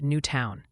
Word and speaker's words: Newton: wanted you to know Newton is apparently pronounced new town.